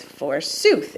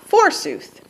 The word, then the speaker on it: forsooth: forsooth now that is the pronunciation of forsooth is forsooth it's not forsooth so that I am